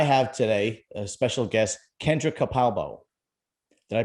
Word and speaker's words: Kendra Capalbo: few youtubers i have today a special guest kendra capalbo did i pronounce that right you did okay good the